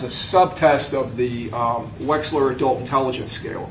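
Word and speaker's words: Wechsler: And that's one of se of the several subtests of the Wexler. Correct. I want to say it correctly. That would be the weights the Waxler adult intelligence scale.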